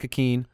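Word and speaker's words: Ikhine: We didn't really talk about, Westbrook Akeen. How do you pronounce it? Westbrook Akeen. Akeen, not Akeen.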